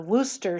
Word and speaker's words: Worcestershire: of horse prepared horseradish i think you're supposed to just say worcester sauce that's what the british say but i mean there's